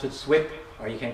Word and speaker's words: SUIP: slip is the name of the compo we pronounce it swip or you can call it soap or anything you want to so long as